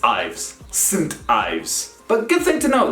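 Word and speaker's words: St Ives: do not pronounce it as saying do you pronounce it as synth in romanian wooden e sint ives and it's not ibis it's ives sint ives but good thing to know that whenever you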